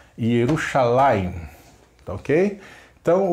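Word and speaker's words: ירושלים: Yerushalayim, lembrando da sílaba tônica sempre no final. Yerushalayim, tá ok?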